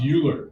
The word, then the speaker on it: Euler: of five okay all right excellent okay so euler's formula no it's not pronounced euler even though some of your problems like euclid